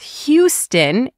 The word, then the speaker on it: Houston: And don't confuse Austin with Houston, H-O-U-S-T-O-N.